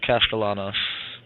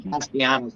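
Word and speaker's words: Castellanos: drive here to start how do you pronounce Boston College the quter back's last name Thomas castalanos that's what I figured but I was saying castanos I was like what that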